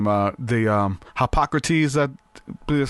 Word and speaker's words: Hippocrates: The Hippocrates, that is how you say his name.